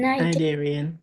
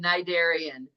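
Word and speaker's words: cnidarian: you pronounce this word n narian very good very good narian the sea is silent sponges have no what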